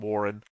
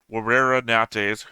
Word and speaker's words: Werera Nates: Werera Nates, I just said his name wrong a moment ago. I called him Warren. Werera Nates, who was a Zentradi,